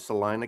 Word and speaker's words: Salina: It's Salina, Kansas. Okay. Salina is pronounced the way Massie says Salina.